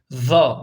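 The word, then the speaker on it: ظ: Ben burada size anlatıyorum ta za arkadaşlar tek aynı zamanda kalın hem Peltek hem kalın olan tek harfimiz deir arkadaşlar şuraya p ve K yazalım arkadaşlar K ve p Yani hem kalın Hem peltektir ona Biz za diyeceğiz za bakın 3 tane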